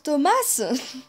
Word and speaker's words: Tomas: des questions chaud ça ça se prononce thomass une tomate thomas seront